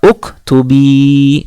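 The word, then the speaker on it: اُكْتُبِي: Uktubi, uktubi ya. Ada harokat kasroh bertemu ya sukun, maka menjadi panjang bacanya ya.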